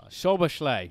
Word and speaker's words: Szoboszlai: someone a piece of candy, if you can pronounce this name right here correctly. Szoboszlai. Szoboszlai? Szoboszlai. Very close. I'll say it. Szoboszlai. Szoboszlai.